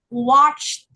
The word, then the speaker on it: watched: Walked, laughed, jumped, watched it. Now, watched. Watched. There you go. Well done. And so there's no extra syllable, and there's a quick T sound. The T is very short.